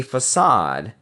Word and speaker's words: facade: see through their masking a facade pronounced sad is a front that